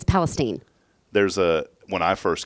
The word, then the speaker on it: Palestine: how many people say Palestine not many it's Palestine if they're not from there they say it